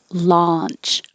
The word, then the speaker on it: launch: you see your tongue if you say lunch it's going to sound like let's go to lunch and eat excuse me instead of launch product launch or rocket